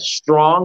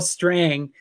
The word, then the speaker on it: Strang: You know, is that Strong? Is that, how do you say his name? Is it Strange? Strang.